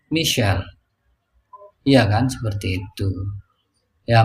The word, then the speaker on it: Michael: Mungkin ada orang namanya Michael. Begitu di Inggris dibacanya Michel.